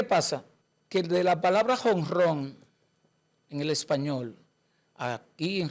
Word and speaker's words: jonrón: Que de la palabra jonrón en el español, aquí en República Dominicana, en Cuba, Venezuela, México y Puerto Rico, tiene que decirse hongron y escribirse hongron con J.